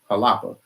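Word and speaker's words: Xalapa: Museum of Anthropology in Jalapa, Mexico. Starts with an X, but they pronounce it with a J, Jalapa. We drove up to Jalapa, Mexico, took a look at all the Olmec heads.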